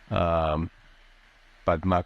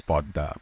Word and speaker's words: Padma: So Podda is like, pronounced in different ways. I must say that first. Padma could be seen in the Sanskritic form and as well as an anglicized form, but in Bengali it's Podda.